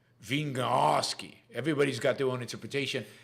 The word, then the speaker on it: Wieniawski: Thomas says you pronounce it Wieniawski. Wieniawski.